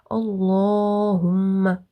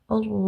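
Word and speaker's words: اللهم: So Allahumma, like that, okay, instead of Allahumma, okay. You must press on the meme for the duration of 2 fingers and then release the sound Allahumma, okay.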